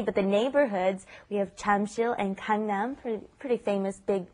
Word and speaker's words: Jamsil: Notice it's not spelled Jamsil, it's Jamsil is the spelling, but the pronunciation, of course, is right in between that J and that CH, isn't it? Jamsil, right?